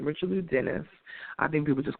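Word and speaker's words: Richelieu: them but the individual richo and I believe that's how you say his name richelo Dennis I think people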